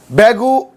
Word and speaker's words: बेंगू: देखो कुछ लोग बैगू बोलते हैं। कुछ लोग बैगू बोलते हैं। तो सही सही प्रोनंसिएशन क्या है? सही प्रोनाउंसिएशन तो बेंगू है। है ना? लेकिन कुछ है ना पुराने लोग बैगू भी बोलते हैं।